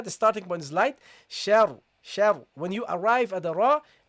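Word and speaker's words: شر: this one, should be, you should read this heavily because it's non-voweled, and before this ra, there is a letter with a fatha. In that case, you should pronounce it heavily. So the first one is heavy. So you say sha, sha, shar, shar, okay? Shar. The sheen is not heavy.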